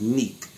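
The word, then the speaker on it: Nique: This beautiful young lady right here, her name is Neek. She have a show on the internet called Neek at Night. And that Neek is spelled N-I-Q-U-E, Neek at Night. Man, look, very intelligent, wise, sexy, black woman, man.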